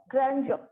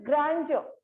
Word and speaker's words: grandeur: In air in the sense, you will not stress the word R.